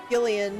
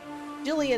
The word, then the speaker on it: Gillian: ya oh yeah i'm actually only pronouncing it gillian because of the pun jillian is generally how you would pronounce it yeah wondering who this